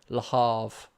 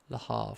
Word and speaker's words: Le Havre: Probably did in France, but seeing as all my viewers are English, I'll say Le Havre with a H.